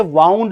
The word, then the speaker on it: wound: उसकी second form होती है वाउंड, वाउंड, WOUND। एक शब्द होता है WIND, इसका प्रोनाउंसिएशन होता है विंड, ये इसका मतलब होता